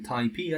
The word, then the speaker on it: TaiPy: more options we have tyi or if you like to pronounce numpy is nump then taip I guess but taii is one